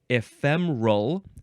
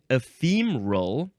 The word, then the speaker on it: ephemeral: First form adjective from 1576, and there's a few ways to pronounce this. Ephemeral, 3 syllables. Ephemeral, still 3 syllables. Or ephemeral or ephemeral with 4 syllables.